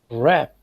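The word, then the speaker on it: wrap: Rap. Silent letter?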